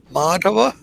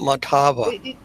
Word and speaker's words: Madhava: Madhava. Madhava. You see where the line over the A is? That should be pronounced a little longer. Madhava, not Matava.